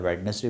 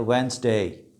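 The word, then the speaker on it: Wednesday: उसके बाद अगला वर्ड है, ये भी हफ्ते के दिन का नाम है, वेडनेसडे बोलते हैं, तो करेक्ट प्रोनाउंसिएशन है वेंसडे, वेंसडे।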